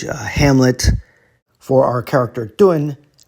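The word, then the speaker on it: 頓: For our character Dun, Tun is serving as our phonetic component because it rhymes.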